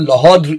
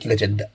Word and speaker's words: Legendre: Associated Legendre equation, if you really want to pronounce the French name correctly, but we are not going to bother with that. We are going to call it Legendre.